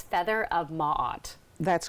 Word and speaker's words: Maat: I want to make sure I'm saying I pronounced this properly too so it's feather of Maat that's correct feather am mad right so first